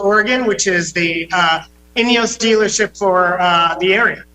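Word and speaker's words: Ineos: Turismo in Wilsonville Oregon which is the uh inos dealership for uh the area wow well that's a fancy dealership there I like it all right so did I pronounce it right inos yes inos Grenadier is the name of the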